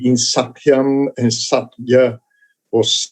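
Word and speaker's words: सत्य: Well, Ashina, can you go back and just pronounce the word satya again? Satya. Satya. Yeah. It is almost not a double, but it is. There is something there. Almost like a 1.5 meter.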